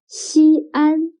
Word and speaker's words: Xi'an: the terracotta warriors excellent xi'an can you write down the opinion of xi'an if we write xin and an together it'll become one syllable means first but xi and are two syllables so when the syllable